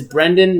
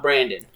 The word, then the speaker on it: Brendan: But he specifically made a point to tell everybody it is Brendan, not Brandon.